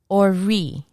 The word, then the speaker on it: Ori: Ori. Ori. In Spanish, ori. The R rolls.